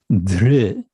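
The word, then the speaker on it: धृ: verbal root, which is dhr. In Roman transliteration, it would be DHR with a dot under the R, retroflex r, dhr, which is hard to pronounce.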